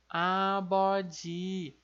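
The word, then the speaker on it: 아버지: Depois a gente tem o nosso P-up, aqui o P ou B, ele está no meio da palavra, então ele tem o som de B, por isso fica abó, abó. E o som de D, esse som de DJ do nosso tian aqui, que é o nosso J, né? Então, como ele está na última sílaba, no final da palavra, ele tem o som de DJ. Então, abode, abode, é o nosso pai.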